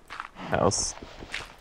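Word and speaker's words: Haus: How do you say house in German? house. It's spelled h a u s like fun house like doctor house.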